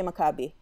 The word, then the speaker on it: Maccabi: So I have an anecdote about, is it Maccabee? How do you, what's yeah. the correct Yeah, well, pronunciation? In Hebrew you say Maccabi.